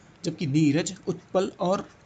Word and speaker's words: उत्पल: जबकि नीरज उत्पल और इसको उत्पल बोलते हैं त साइलेंट हो जाता है पता नहीं क्यों हो जाता है मुझे नहीं पता लेकिन हो जाता है उत्पल इसको ज्यादा उच्चारित नहीं करते हैं त को फिर भी अभी हमें पढ़ना है